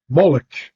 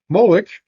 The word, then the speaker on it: Moloch: Moloch, also spelled Malak or Molech, well, you can see the difference. They're pronounced the same.